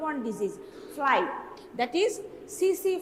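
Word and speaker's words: tsetse: disease soil that is cc fly t-a-c-t-a-c but pronunciation is cc fly these are all common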